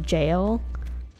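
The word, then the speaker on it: gaol: to that one guy that's just jail, but it looked, they spelled it like G-A-O-L.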